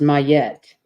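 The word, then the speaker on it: Ma'at: good that's lovely your inspiration oh it's actually pronounced mayette isn't ancient Egyptian deity associated with truth Harmony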